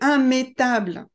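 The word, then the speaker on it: immettable: Seulement dans la catégorie IM, vous avez immanquable, immangeable et immétable. Alors normalement, quand on a IMM, I2M, on doit prononcer IM, sauf pour ces trois mots.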